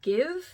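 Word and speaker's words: GXVE: Gwen Stefani's makeup line it's called give that's how you say it I had to look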